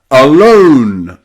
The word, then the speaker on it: alone: So, any word that you see with O-N-E or O-M-E usually means that magic E at the end has changed the O pronunciation to O, from O to O.